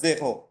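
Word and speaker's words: zéro: ওই আমরা যেভাবে জিরো লিখি, ফ্রেঞ্চও সেম ওরাই ওইভাবে জিরো লেখে, বাট উচ্চারণটা চেঞ্জ হয় জেহো, এটা উচ্চারণটা কি হয় জেগো। জেহো জেহো, ঠিক আছে?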